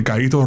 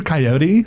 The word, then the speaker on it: Caito: And when I moved to North Carolina, some people it's hard to pronounce Caito. Like, are you Coyote? Like, no.